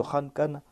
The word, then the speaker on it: khalq: Allah déclare Ahum ashaddu khalqan amman khalaqna. Et quand on place un fatha dessus, on va prononcer cela comme khalq.